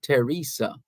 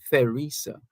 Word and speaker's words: Theresa: So it's Teresa as opposed to Theresa. Teresa. And we'll use the opportunity to say good afternoon to you if your name is Teresa, Theresa. Right, so the H is silent.